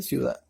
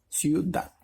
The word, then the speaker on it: ciudad: de negrita por ejemplo en la palabra ciudad vemos que la sílaba tónica se encuentra en al final le dice ciudad verdad donde están en negrita ciudad en la palabra comunidad